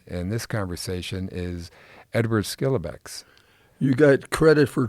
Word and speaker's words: Schillebeeckx: we're focusing on in this conversation is Edward skilbeck you got credit for pronouncing that correctly well you coached me up